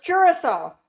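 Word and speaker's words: Curaçao: Curissol. Yeah, curissol. That's how you say it. It's cur. It's spelled c u r a c ao, but it's curol.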